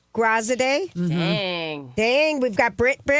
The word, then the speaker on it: Graziadei: We had our new Bachelor, Joey, who can pronounce his last name for $100. Graziadei. Graziadei.